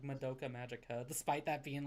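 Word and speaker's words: Madoka Magica: how to pronounce like Moka Magika despite that being like his favorite. Yeah, he says Monica Magika. It's like I I thought it was called Moka Magika.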